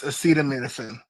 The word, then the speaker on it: acetaminophen: It's acetaminophen.